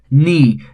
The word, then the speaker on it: knee: Knee. Again the initial K is silent.